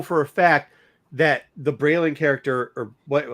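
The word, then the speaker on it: Baylan: a fact that the Braylon character, or what? How do you say his name? Is it Braylon? Balin. Balin. The Balin and the other character that's with him, his apprentice person.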